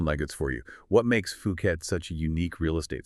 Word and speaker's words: Phuket: We're talking about Phuket, that's pronounced Phuket, Thailand's biggest island.